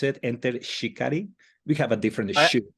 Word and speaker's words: Enter Shikari: Is that the right way to pronounce it? Enter Shikari?